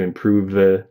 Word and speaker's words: improve: But yeah, I would just do a V sound. No additional vowel at the end of improve. And then go directly from that V to the M in my. So improve my, my, improve my. So not improve my, but improve my. So it's like prove my is 2 syllables, not 3.